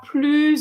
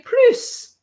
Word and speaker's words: plus: you read in sura plus obliges you remember yeah and here he didn't say plus because it's negative it didn't pronounce the s and those plu are